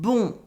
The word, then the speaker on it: bon: Bien, and bon, bien and bon. You probably noticed that here the N is silent. We don't say it at the end, we say bien and bon.